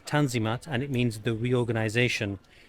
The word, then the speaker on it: Tanzimat: of Ottoman history is known as the on the mat pronounced in English as tanzimat and it means the